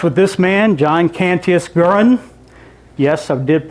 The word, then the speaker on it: Garand: The story of the M1 Garand starts with this man, John Canantius Guran. Yes, I did pronounce that correct and Susan pronounced it correct earlier. Guran.